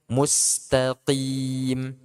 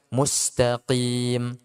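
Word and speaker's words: مُسْتَقِيمَ: Demikian juga kalau di Al-Fatihah mustaqim. Ya, ini banyak mengucapkan mustaqim, tim. Nah, ini hati-hati. Berarti kenanya di mana ini, ikhwah? Makhraj sudah betul. Pengucapan harokat belum. Ya, di itmamul harokat. Kasrahnya masih kurang.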